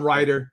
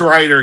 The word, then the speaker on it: Wrighter: Yeah, we'll call him Ryder for that. Right? What's it? Is it? What was it spelled? WHWRIGHTER. Yeah. It's Ryder. Yeah, because the W is silent, so it's Ryder.